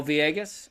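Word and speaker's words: Villegas: Oh, Vieas. Okay. Yeah, it's a it's a Y sound when you see two L's in Spanish, like tortilla.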